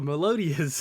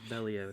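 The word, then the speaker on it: Meliodas: the Seven Deadly Sins, I would uh say Melotis' name wrong because I would read it like I would be like, "Oh, Melodius or Melodius?" Yeah, Melotus.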